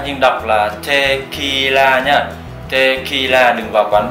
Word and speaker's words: tequila: Và mặc dù viết là tequila nhưng đọc là tequila nhá. Tequila, đừng vào quán bar và gọi cho một cốc tequila nhá.